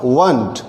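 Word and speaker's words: weren't: वर नॉट होगा वंट, जिस तरह से इसको आरंट नहीं पढ़ते हैं, इसको भी हम वरंट ना पढ़ते हुए प्रोनाउंसिएशन लेंगे वंट।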